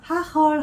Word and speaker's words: Hagel: 네덜란드에서 그 지 영어 발음이 흐라고 좀 이렇게 세게 발음이 나오거든요. 하헐 하면 우박이라는 뜻이고요.